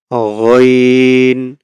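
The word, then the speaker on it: غين: এটার যদি উপরে আমরা একটা নোক্তা দিয়ে দেই, এটাই হয়ে যাবে কি গইন, গইন। গইন উচ্চারণ হবে হলকের শেষ থেকে।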